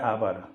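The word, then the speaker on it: hour: H silent हो जाता है, जब हम लिखेंगे तो एच लिखेंगे, आवर एच से शुरू होता है, लेकिन जब हम इसको पढ़ेंगे तो हमारा ओ से पढ़ा जाता है आवर, एच साइलेंट हो जाता है, तो हम यहाँ ओ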